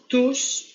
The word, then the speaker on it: tous: Ils se sont tous parlé. On le prononce tous.